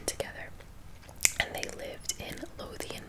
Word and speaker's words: Lothian: and they lived in Lothian Maryland I believe I thought you pronounce it and the county in